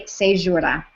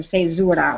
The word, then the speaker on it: caesura: That is called a caesura, or caesura, or caesura, however you want to pronounce it, caesura.